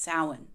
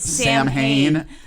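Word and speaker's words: Samhain: because he mispronounced Salin he said Sam Hayne and some dude named Sam Hayne I guess it's like a cheese grater to the wiccan part of my brain to say sam Hein but anyway word records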